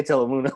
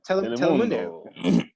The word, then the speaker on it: Telemundo: Why'd you say Telemundo like that? Telemundo. Bro, you're Mexican. Just say it right. Just say it right. Telemundo.